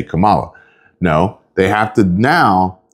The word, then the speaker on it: Kamala: name so instead of how it would be pronounced like the flower Kamala they decided to change